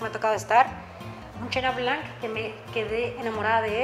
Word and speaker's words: chenin blanc: un perfil muy aromático, chenin blanc, o como le decimos en México, chenin blanc, pero saben que me gusta que las pronuncien como deben de ser, que es chenin blanc.